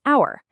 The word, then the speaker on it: hour: It starts with an H, but we don't pronounce it. The first sound is a vowel. So we say an hour and the reverse is true for a word like university.